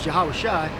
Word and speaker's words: Yahawashi: His biblical name pronunciation is Yahawashi.